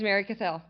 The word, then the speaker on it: Mary Cathell: Did I get the pronunciation right? It is Mary Cathell.